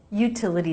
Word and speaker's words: utility: The T here comes between two vowels. That's a flap T unless it begins a stressed syllable, which is what happens here. So it's a true T. Util. Utility. The second T is between two vowels and doesn't start a stressed syllable, so it's a flap.